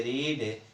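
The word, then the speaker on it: read: पढ़ने की इंग्लिश होती है रीड, और इसका सेकेंड फॉर्म और थर्ड फॉर्म यही रहता है, लेकिन इसका जो प्रोनाउंसिएशन होता है वह अलग होता है। रीड रेड होता है।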